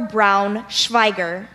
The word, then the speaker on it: braunschweiger: other any alternate pronunciations it can be braunschweiger or brown Schweiger brownish fiber braunschweiger it's